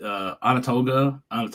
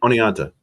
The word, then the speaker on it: Oneonta: tomorrow will be West Michigan and Lakeland with Onondaga. Is it Onondaga? I never can say it right. Oneonta.